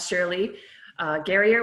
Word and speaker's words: Shirley Gerrior: We have Shirley Gerrior with us today. Did I pronounce that right, Shirley?